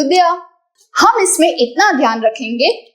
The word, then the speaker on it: द्य: जी हाँ, उच्चारण द्य। इंग्लिश में लिखते वक्त DYA एंड नॉट DHYA। द्य नहीं, द्य।